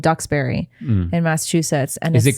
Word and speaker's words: Duxbury: it's it's called ducks it's spelled d-u-x-b-u-r-y you say ducks berry so you say yeah